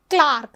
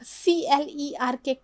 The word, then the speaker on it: clerk: Clark, C-L-E-R-K, Clark. Clark is pronounced as Clark also, and sometimes Clark is pronounced as clerk somewhere.